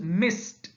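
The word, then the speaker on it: missed: is mi SS edy it's the past form of Miss and it's pronunciation is mist mist so mi SS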